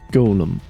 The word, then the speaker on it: Golem: He asked to be referred to by the last bit, which is, of course, golem. Golem. Much to his surprise, this ends up being pronounced like golem anyway.